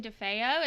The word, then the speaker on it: DeFeo: okay so we're so excited to have DeFeo is that how you say it we got